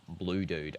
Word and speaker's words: Kholood: Blood is pronounced blue dude.